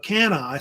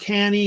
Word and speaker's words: Cannae: at the Battle of Cannae. Sometimes pronounced Cannae. It's kind of different pronunciations on how they actually say the actual name, more or less. Usually Cannae or Cannae is how they usually say it because it's named after